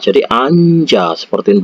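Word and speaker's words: 앉아: Kalau ini dibaca itu jadi anja.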